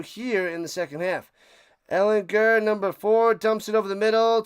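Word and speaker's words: Ehlinger: They I guess uh he let everybody know it's a soft G cuz I've been calling him and the people been calling him Ellinger for years, but it's Sam Ellinger.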